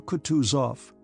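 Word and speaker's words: Kutuzov: Prince said Anna Pavlova General coutu off said bonsky speaking French and stressing the last syllable of the general's name like a Frenchman has been pleased to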